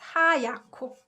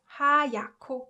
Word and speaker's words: 하얗고: And so when it's combined together, it's pronounced 하얗고, 하얗고, because 히읗 받침 combined with 기역 consonant produces 크 sound, right?